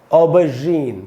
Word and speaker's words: aubergine: जैसे बोलते हैं श, वैसे बोलेंगे ज, ऑबरजीन। तो ये शुद्ध उच्चारण है।